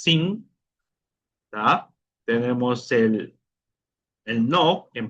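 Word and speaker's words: sim: ejemplo, tenemos el si de afirmación que es sin tenemos el el no, en portugués sería now.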